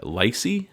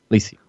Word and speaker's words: Lacy: Elaine has set him up on a date with her friend uh Lysy. Is that it? Or is it Liy? Lacy. Lacy.